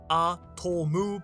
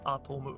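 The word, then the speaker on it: アトム: could be a wordplay based on how atom is pronounced in Japanese, atomu, because to means and, so you get it, atomu.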